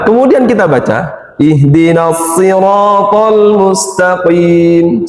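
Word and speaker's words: مستقيم: Ihdinas siratal mustaqim. Mustaqim. Ndak boleh lepas di situ. Harus ditempelin di situ.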